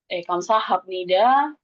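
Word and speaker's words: 감사합니다: Ketika bieb atau ph ketemu dengan nian atau mian nanti dibacanya m. Kayak kamsahamnida, kamsahamnida jadinya kamsahamnida.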